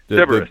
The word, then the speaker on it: Cerberus: Cerbers. Cerberus. And it's Cerberus, yeah. And it's Cerberus, the three-headed animal.